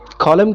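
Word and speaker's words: column: कॉलम के अंदर जो लास्ट लेटर एन है ये साइलेंट है।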